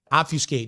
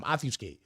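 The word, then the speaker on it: obfuscate: Offuscate. There it is. By the way, I said it right that time. Offuscate.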